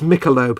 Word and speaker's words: Michelob: Michelob, it's Michelob, not that I drink or honestly care. Says Dan. It looks like it should be pronounced Michelob by a cultured civilization.